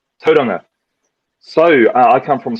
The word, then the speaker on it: Tauranga: You probably won't even be able to pronounce it properly. The name of my hometown is Tauranga. That's Tauranga. Tauranga.